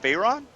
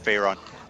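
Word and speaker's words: Faerûn: monsters are in the monsters of fyon so uh and by the way Monsters of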